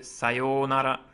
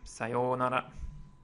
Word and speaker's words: sayonara: Okay, it's got a pretty particular pronunciation. It's a long O sound here. So sayonara, sayonara.